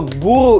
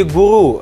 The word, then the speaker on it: гуру: Итак, первое слово «гуру» или «гуру» – это означает «мастер», «мастер своего дела». И на самом деле, что странно, здесь ударение можно поставить и на ту букву «у».